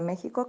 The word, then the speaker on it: México: la palabra examen luego otra que sería sonar como j como la palabra méxico que tú sabes que se escribe con x luego tenemos otra